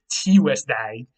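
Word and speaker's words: Tīwesdæg: This comes straight from Old English Tuesday. That's how it would have sounded, Tuesday.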